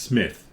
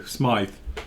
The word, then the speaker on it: Smythe: Ian, and he's done it as well, pronounced Smith. No, Smythe. You put a Y in it, that's it, it's Smythe.